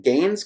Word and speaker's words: Gaines: Um, Gaines. Now, did I say your last name correctly? A lot of times I I don't say people's names quite like they should be said, but did I pronounce Gaines correctly, or is it is there an accent